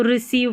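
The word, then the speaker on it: receive: जैसे कि यहाँ पर देखिए, इसमें ई आई जो है ये रहा, इसका बड़ी ई की जैसे उच्चारण है, तो रिसीव पढ़ेंगे।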